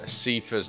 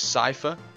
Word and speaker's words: Seifer: i've googled it and the correct way to say his name is cipher which is i never knew that apparently that's come from the german translation or something and something